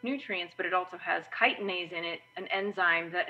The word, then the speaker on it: chitinase: enzyme called chitinase it's spelled chitinase but it's pronounced chitinase chitinase is this enzyme that dissolves the exoskeletons